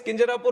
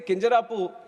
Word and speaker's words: Kinjarapu: And my name is Kinjarapu Rammohan Naidu. And when some people say Kinjarapu, there might be some problem with them. They can't pronounce it the way I pronounce it.